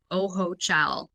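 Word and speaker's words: Ojochal: So it's interesting because when I moved here actually the village that I live in is called Oho Cha. It's spelled O J O C H A L.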